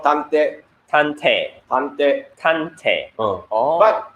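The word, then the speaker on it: 探偵: in Japanese, it's called tante.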